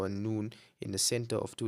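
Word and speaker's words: ن: The next one we have is noon. Similar to a n in English.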